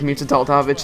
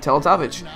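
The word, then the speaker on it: Teletović: that I he think he thought it was mavich that's how they pronounce it on the Yes Network which I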